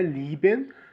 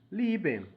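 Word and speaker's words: lieben: no começo do vídeo verbo amar liben você realmente só prolonga liben você só pronuncia a pronúncia do I mas nos outros exemplos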